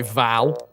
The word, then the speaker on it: Val: I'm not doing it this time, by the way, Val. Rhymes with pal, even though you aren't one.